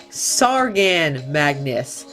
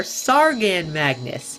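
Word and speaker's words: Tsaagan mangas: on their pre-order site this guy is apparently pronounced sargan Magnus I wasn't even close so that's definitely a good thing that I look down there so this is their sargan Magnus not their tasagna or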